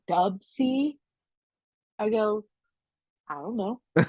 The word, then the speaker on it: WC: Ted but I guess I was saying his name wrong for years I kept saying WC in the Mad Circle and then my husband's like do you mean dubsy I go I don't